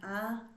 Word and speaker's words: há: The great thing about this verb is you only use it in the one conjugation, and that is há. The H is silent, by the way.